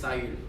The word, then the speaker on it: Saül: The English is Saul. Mm-hmm. The French is Saül. Mm-hmm. Creole is Saül. Saul is the heavy tongue. Like, it's the way people in America pronounce it. Like Raul, Saul. But Saul is closer than Saul, so I'll take Saul, but I prefer Saül.